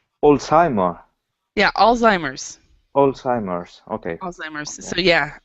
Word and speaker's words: Alzheimer's: Could you pronounce Alzheimer? Yeah, Alzheimer's. Alzheimer's.